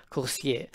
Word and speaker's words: Coursier: now first and foremost course here means career in french why french well because the developer is french and so the correct pronunciation would be corsier but i don't speak